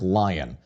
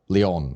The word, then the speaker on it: Lyon: by the name of Patrick Lyon, or Leon, I guess. It's more likely pronounced Lion, considering the Americanization of all of it here.